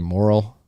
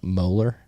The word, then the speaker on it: Moeller: The last $50,000 grant went to Justin Morrill, and that's not how you say his name. Moeller is how you say his name, for his work on Fediment.